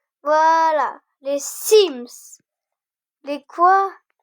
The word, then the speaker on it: Sims: Voilà, les Sims. Les quoi? Les Sims, ça se prononce Sims.